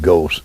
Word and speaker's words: Ghost: And I got to asking around, and an outfit called Theo Ghost, in Mobile we would pronounce that Goss, but he pronounced it Ghost in Brooklyn, advertised that they did